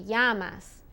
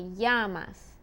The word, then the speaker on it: llamas: when it's double l double l sounds more like a y like we've already heard in como te llamas double el como te llamas okay en ye is